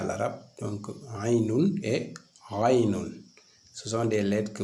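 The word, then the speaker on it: غين: Pour le Ghainun, vous graisez davantage la lecture la prononciation du Ain. Donc, vous graisez la prononciation du Ain pour avoir le Ghain.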